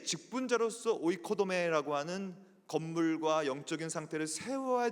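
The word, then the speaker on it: οἰκοδομή: 그니까 교역을 직분을 세운 이유 성도를 온전하게 하여 봉사의 일을 하게 하며 그리스도의 몸을 세우려 한다.이 세우다라는 개념이이 헬라어로 오이코도메라고 읽어요. 따라해 봅시다. 오이코도메.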